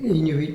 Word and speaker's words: Inuit: The Inuit, for example, in their culture, Inuit, you would say, Inuit is how they say it.